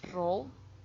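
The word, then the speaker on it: rho: E terus di sini kita juga tahu bahwa row atau bentuk P seperti ini tapi bukan P ini bacanya row itu adalah convians harusnya sih covarians I sama J.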